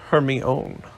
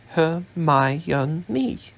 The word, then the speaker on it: Hermione: in the candl light Hermione was now teaching crumb to say her name properly he kept calling her her own her my she said slowly and clearly close enough she said